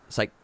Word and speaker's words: Cyclades: Cyclades.